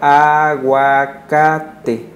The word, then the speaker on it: aguacate: Aguacate es una palabra de origen náhuatl que, digamos, ya está nativizada, quiere decir que ya se adaptó al español y se pronuncia aguacate. Pero en náhuatl se pronuncia aguacat, termina con TL. Porque el náhuatl tiene un sonido propio que es la TL, pero el español, como sonido propio, pues no lo tiene.